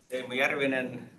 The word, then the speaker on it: Teemu Järvinen: So, Teemu Järvinen is like proper Finnish pronunciation, and I'm from Finland, now in Vancouver, Canada.